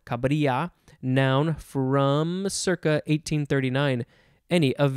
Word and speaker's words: cabrilla: Next, we have cabrilla, cabrilla, C-A-B-R-I-L-L-A, similar to caballero with the double L. It's a yuh sound, cabrilla, noun from circa 1839.